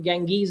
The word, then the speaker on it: Genghis Khan: 800 years after the death of genghis khan ganges is how he's pronounced in uh in the west and chong